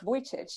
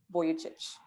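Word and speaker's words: Vujicic: about the speaker nick voitice you pronounced his surname incorrectly so the right pronunciation is nick boyach and you said what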